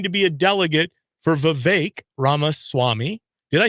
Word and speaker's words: Vivek: be a delegate for Vivek Ramaswamy. Did I say that right, Stephanie? You did, yeah. His name rhymes with cake, so it's Vivek Ramaswamy.